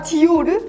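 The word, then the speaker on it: Dior: 한국 사람들이 너무 이게 이상하게 발음을 해가지고. 자라? 아니야. 나라는 프랑스 아니야. 아 디오르?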